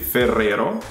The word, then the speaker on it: Ferrero: We pronounce it Ferrero. Again, it's like Ferrari. Ferrero. Nutella. Ferrero Rocher.